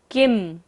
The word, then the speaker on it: किं: किम, क के ऊपर बिंदी और बाद में क्या है व, य र ल व होता है, बिंदी का उच्चारण क्या होगा म। किम वीक्षितेन भवता भुवि येन नान्यः।